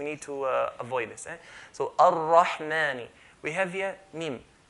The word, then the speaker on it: Ar-Rahman: Mim is from the light letter, so we're not going to say Bismillahir Rahmani, not mani. If I say ma, I'll be making it as heavy letter. Ar-Rahman, ma, not ma.